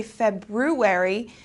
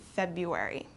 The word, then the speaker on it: February: written we don't say February this R kind of goes away and we pronounce it February okay vegetable vegetable a